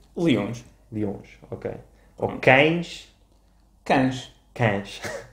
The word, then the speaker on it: cães: Cães. Cães. Portanto, o E desaparece.